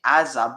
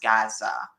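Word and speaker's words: עזה: root than Gaza because the Hebrew is actually Aza, but there was also a Gain, so it was pronounced Gaza, but it's spelled Aza. At least that's how it's pronounced in modern day.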